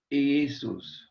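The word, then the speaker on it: Ἰησοῦς: Ho Jesus, or Jesus. Again, at the beginning, iota changes into a y sound. Ho Jesus. Ho Jesus. I'm sorry. Ho Jesus. Ho Jesus. Accent on the upsilon.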